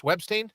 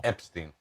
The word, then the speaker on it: Epstein: What'd you say his name was? Webstein? No, Epstein. Epstein.